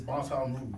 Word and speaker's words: Baton Rouge: Either way is acceptable. Proper pronunciation is Baton Rouge.